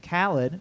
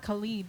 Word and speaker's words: Khaled: And then they hired an artist named Khaled, who is not Khalid. DJ Khaled. Isn't that confusing? Yeah, it's confusing. It's spelled the same, but Yeah.